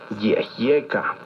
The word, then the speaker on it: yehyeca: Yehyeca. Recuerda que en el náhuatl las palabras se acentúan en la penúltima sílaba.